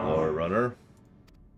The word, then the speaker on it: Lorerunner: chosen to carry lower runner that's how you pronounce my it name your turn has come